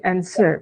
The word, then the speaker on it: answer: Hai Terus yang ini answer b nya itu tidak usah dibaca jadi encer itu saja yang berikutnya difficult fb-nya